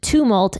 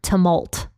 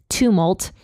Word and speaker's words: tumult: I found out that the word tumult is pronounced tumult and not tumult I initially read it as tal when I